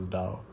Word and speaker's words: Tao: It's spelled as T A Tao but it's pronounced as Dao. the Dao the way things are